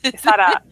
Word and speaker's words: Quesada: by Kevin Smith, and the art is done by, I'm going to say it wrong again, Joe Quesada. Joe It's Quesada. on. Yeah. Quesada.